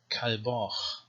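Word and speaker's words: ܟܠܒܟ: it's after a vowel, so that would be Kalbach. Okay, so we have two kaf in this word, and representing the two different manners of pronunciation. Kalbach, ka and cha.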